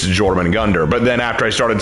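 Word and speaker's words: Jörmungandr: anal people going like no it's not yman Gund it's jorman Gund you've got to do the hard J consonant and I'm like I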